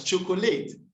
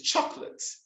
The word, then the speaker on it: chocolate: pronunciation is competitor it's built as chocolate but it's chocolate it's as comfortable but